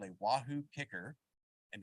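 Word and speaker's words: KICKR: device called a wahoo kicker and because athletes can't spell it's K I C KR um we live out the E because you're putting in the effort I guess I don't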